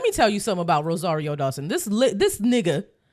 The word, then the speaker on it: Rosario Dawson: You didn't even say her name, right? Rosario Dawson. Okay. You said Rosie O Dawson like Oh, I did say I did say like an American, huh?